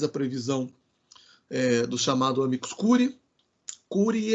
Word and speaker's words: curiae: ele chama né aí cury e a pronúncia é essa né cury e cury cury no latim fica dessa maneira então amicus curiae a